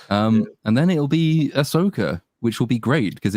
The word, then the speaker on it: Ahsoka: and then it'll be Ahsoka which will be great because it you know it rhymes with ass so there'll be plenty